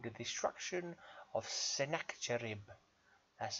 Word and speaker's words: Sennacherib: Got a poem for you here by him called The Destruction of Sennacherib. That's how I'm pronouncing it.